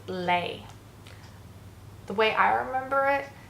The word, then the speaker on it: les: from la, and together, phonetically, they sound like lay. Again, the way things are spelt in French, the sounds are completely different to in English. Like that's not, we'd say les, and in French we got the sound lay.